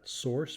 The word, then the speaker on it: src: this directory labeled SRC we pronounce that Source because it's where all of your source code lives and there's a chain